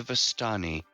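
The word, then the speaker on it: Vistani: there there was a no you're incorrect it's the vastani yeah that one anyways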